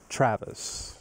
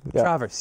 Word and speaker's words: Travers: newly minted council president Travis Travers Travers yes I was so worried that